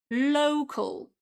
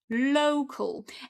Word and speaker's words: local: And the problem is very often people kind of copy the pronunciation from the Polish language and they say local, okay? But this is low. Repeat after me. Low. Cal. Local. Okay?